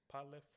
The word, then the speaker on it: PaleFO: And can you give me the correct pronunciation again? It's Palo.